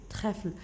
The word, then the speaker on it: trèfle: Le E, l'accent vers la droite. On le prononce E.